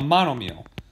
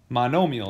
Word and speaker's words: monomial: This is what you call a monomial. Monomial is probably how most people pronounce it, okay? But the phonetical way is monomial, okay?